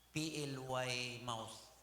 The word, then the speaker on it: Plymouth: PLY mouth pronounced as Plymouth.